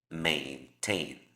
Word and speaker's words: maintain: Significa que en ambos casos la A va a ser pronunciada como A. Maintain.